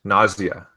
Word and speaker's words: nausea: Nausea. Nausea. Right? It's spelled like nauseous, right? But the S is silent on the end.